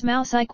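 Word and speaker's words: μουσική: Abstract music is derived from the Greek word s, pronounced as mousike, which means the art of muses.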